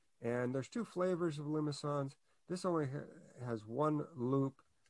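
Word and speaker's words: limaçon: And then the next ones are, it's a funny word, the C has this cedilla, has a little tail, meaning that the C should be pronounced as an S. It's a French word. I say limousin.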